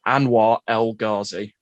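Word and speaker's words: Anwar El Ghazi: I think I pronounced that Anwar Elgazi.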